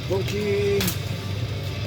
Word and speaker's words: Rapokki: You might be like, why do you say it like that? Like, that's how you say it. Rapokki. It's, how do they say it? It's either a soft T or a hard D.